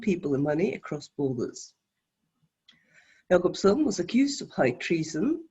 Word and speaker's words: Jacobson: analyst Edith Jacobson, and I actually pronounce it Jacobson because I think at the time we were in Berlin and we're not yet in the US, so she hasn't become Jacobson yet.